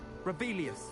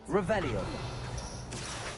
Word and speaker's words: Revelio: Rebellious. Saying it wrong. Ugh, Rebelia. Much better. Oh, shut up. Wait. Revelio.